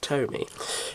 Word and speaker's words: TOMY: I think it's I think you'll find it's pronounced Tomy is a Tomy Thomas and uh as you